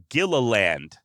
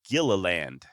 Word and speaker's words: Gilliland: guy named Jim gilland Gilliland ah I'm gonna struggle pronouncing this guy's last name it's spelled g-i-l-i-l-l-a-n-d so Gila land agila Gilliland look there's no way